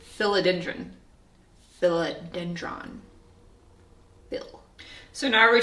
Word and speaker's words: philodendron: pothos apparently it's pothos and I've always said philodendron apparently it's philodendron philodendron bill so now every time you hear